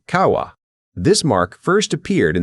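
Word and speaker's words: 川: It is a stylized version of the Japanese character for river pronounced kawa.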